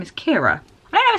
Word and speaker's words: Ciara: my name it's ridiculous so it's Kiera by the way I'm